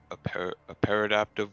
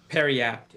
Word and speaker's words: Periapt: interested in over the shield potentially is a paradaptive wound closure. Oh, what? I think I'm saying it right. Paradaptive wound closure? Periapt.